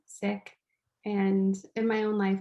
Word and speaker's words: Sikh: hear it pronounced as seek um the correct way to pronounce it is sick and in my own life i've had many funny stories where i've told someone that like hey i'm sick and they take it